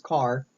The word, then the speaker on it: car: The next function we'll take a look at is called car. Yes that's right, it's car as in the automobile.